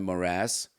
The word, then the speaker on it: morass: we had all that subprime morass emphasis on the second syllable right you missed 911